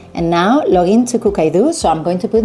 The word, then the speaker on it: Cookidoo: I've been saying Cookidoo forever and I've been corrected recently. Me and a lot of my friends, we have all been corrected. It's Cookidoo. Okay, so I'll start saying it right.